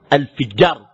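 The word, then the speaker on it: الفِجار: الفجار بكسر الفاء وليس الفجار.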